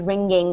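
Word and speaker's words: wringing: ringing all right so the W is almost silent so it's actually ringing like the ringing of a bell what do you guys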